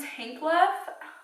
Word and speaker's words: Tankleff: So this is the case about Martin Tankleff.